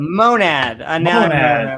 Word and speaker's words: monad: The monad. Monad. It rhymes with gonad, that's why.